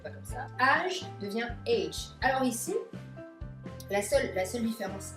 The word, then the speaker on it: âge: Alors ici, la seule différence qu'on aura, c'est que ici, c'est plutôt un son E, comme on aurait H, comme un son l'accent grave, je dirais H. Age, comme ça.